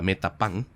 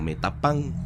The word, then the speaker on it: Metapán: los mismos españoles buscaron españolizar, pues, esta palabra Metapán, que se empezó a llamar Metapas, posteriormente San Pedro Metapas, luego Metapás con acento en la última A, y por último se